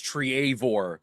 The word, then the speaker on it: Treavor: I mean Bave and some uh uh Champions lore fans may uh argue that it is Triavore but uh you know the the normal pronunciation is Trevor.